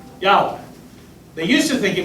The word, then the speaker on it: Yahweh: the 20th century, when scholars in Hebrew began to realize that they hadn't quite figured out the vowels right.